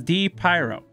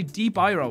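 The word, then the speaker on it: DPyro: my tag right so think of this as d pyro d o d pyro d pyro who the hell would say d byro what's an iro d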